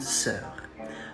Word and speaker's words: sœur: The final is very brief and short.